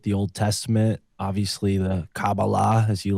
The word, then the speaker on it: Kabbalah: were fascinated with the Old Testament, obviously the Kabbalah, as you like to call it, Kurt.